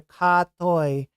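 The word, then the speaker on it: กะเทย: Ka is the first syllable. Toy is the second syllable. So together, ka toy, and it's almost like it's almost like in between a G and a K, right?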